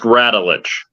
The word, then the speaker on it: Radulich: mortified Mr Mark ravlin radelage pronounced ratelich got you all in